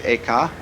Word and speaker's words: Eka: the first the second was named eka I'm using the Japanese pronunciation who was formerly a